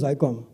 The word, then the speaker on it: Zycom: pangi so operator Madam it is not zom it's zycom so that's how the